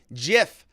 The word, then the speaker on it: GIF: Garrett Dusman says, "The gentleman that created GIF said himself that it's pronounced with a J sound. GIF, just like peanut butter.